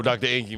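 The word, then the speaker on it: Drenqi: already all right let's go to the Bro Dr Inky man d-r-e-n-q-i-d-r-e-n-q-i-d-r doctor Inky is spelled e-n-q-i you can find me everywhere by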